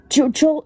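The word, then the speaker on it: Chuchel: Chuchul is pronounced Chuchul. It's spelled C-H-U-C-H-E-L.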